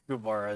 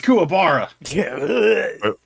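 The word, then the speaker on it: kookaburra: what is a cabara cabara is not like a bird it's kabara it's wait did I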